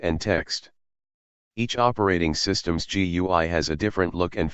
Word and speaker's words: GUI: systems use a graphical user interface or GUI pronounced GUI a GUI lets you use your mouse to